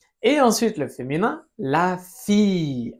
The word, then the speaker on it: fille: Mi c'est ensuite le féminin, la fille. Alors ici on prononce. Ya v que suena la L. No sé si te acuerdas de esta reglita. La I en francés suena como una i nada más.